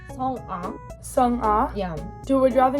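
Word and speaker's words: Sung A: Did you say Sung-ah or Sung-ah? Sung-ah. So more Sung-ah? Yeah, it is like more separately because A is like independent A, so like Sung-ah.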